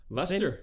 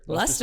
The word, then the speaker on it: Leicester: Just take out the I and the C and the extra E.